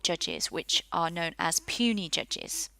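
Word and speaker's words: puisne: which are known as puny judges so that word you can see there is pronounced puny inferior judges our circuit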